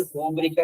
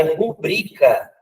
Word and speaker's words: rubrica: O que é a rúbrica, na verdade? É rubrica. É rubrica, a tônica é essa. Esse acento na palavra não tem. Rubrica, né? Rubrica, não vou nem falar rúbrica porque é incorreto.